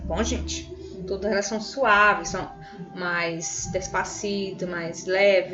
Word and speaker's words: suave: Todas elas são suaves, são mais despacito, mais leve, não tem ênfase, tá bom?